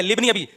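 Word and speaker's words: لابن: ली इब्नी अभी शबा भाई इब्नी अभी शबा नहीं है लिबनी ये अली साइलेंट है ये हमजा वसलिया कहलाता है इसको लिखा जाता है पढ़ा नहीं जाता ये ऐसा ही है जैसे बिस्मिल्लाह रहमान्रहीम।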